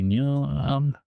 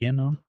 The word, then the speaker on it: enum: I thought like it would be like number. Enum, like number. No. But it's enum. Enum.